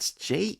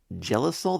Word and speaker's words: Jellicle: Jellicle? Is that like jelly something, like Jellicol? The Jellicol ball? Jellicle ball? Yeah, I think it's Jellicle.